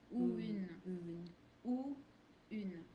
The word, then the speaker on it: ou une: The ou une here is a bit connected because it's sounds that are pretty close to each other in the mouth. So it's just natural when we speak a bit fast, it just flows that way.